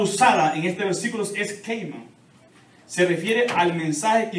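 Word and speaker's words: kerygma: Es la palabra usada en este versículo, es keima. Se refiere al mensaje que incluye la obra redentora de Cristo. Keima, se escribe K-E-R-Y-G-M-A.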